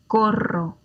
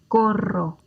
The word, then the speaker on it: corro: Coro, corro. One more time. Coro, corro.